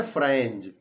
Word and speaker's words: Franz: तो एक तो इसमें छात्र है, स्टूडेंट है, जिसका नाम है फ्रेंज। क्या नाम है? फ्रेंज। याद रखो उसकी स्पेलिंग FRANZ।